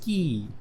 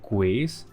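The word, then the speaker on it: quay: It's pronounced key. Build 5 km of QA in one city. I used to call it qua cuz if you read it, that's what the spelling feels like.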